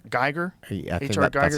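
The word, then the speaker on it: Giger: Geiger.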